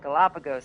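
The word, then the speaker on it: Galápagos: Galapagos.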